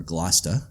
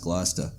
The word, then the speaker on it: Gloucester: which is the Annisquam Village is part of Gloucester, Massachusetts, or Gloucester, as properly pronounced. Yeah. Yeah. I'm from not far from there, so I know it's pronounced Gloucester.